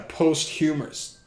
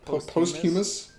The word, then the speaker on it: posthumous: she probably had a post humours post what is how do you pronounce that word posthumous what like it's after